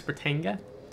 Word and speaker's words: Britannia: We got this Britannia. That's how you pronounce that name of the ship.